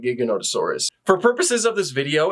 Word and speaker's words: Giganotosaurus: Welcome back to the Many Interpretations Of, where this time we are looking at Giganotosaurus, or Giganotosaurus, depending on your pronunciation. I personally don't care, but I call it Giganotosaurus.